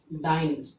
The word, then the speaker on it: dyn: E is removed when we denote it by in the short form, like Newton n. Dyn, dyn. Dyn. Pronunciation will be same.